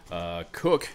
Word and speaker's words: Koch: more affordable cook and I think it's pronounced cook Kate och and I believe the guitar player Greg Koch II spells his last name the same way pronounces it as I just mentioned Koch I have I'm